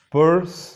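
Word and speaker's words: Peirce: por Charles Sanders s pur es como el sonido de la pronunciación de este apellido es como si fuera monedero en inglés sí pe la primera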